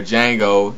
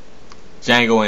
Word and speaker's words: Django: and that fighting scene where the D is silent, where Django is first introduced to Leonardo DiCaprio.